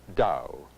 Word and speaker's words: Tao: dow in western spelling its ta o though it's pronounced Dow I've seen it translated